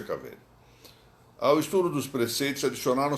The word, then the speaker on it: cavere: Que lhes educou o cavere, ou melhor dito, cavere, pronúncia cavere.